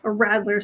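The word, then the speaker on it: radler: traveler it's called it's it's spelled r-a-d-l-e-r okay a rattler so apparently it's like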